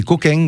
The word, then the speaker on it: coquin: D'ailleurs, Eh d'ailleurs, en Provence, on met un G à la fin, c'est coquin. Coquin, voilà. Coquin. Alors, Coquin. ouais, Coquin. ça c'est pour la prononciation pour les touristes, pour ceux qui savent pas le prononcer.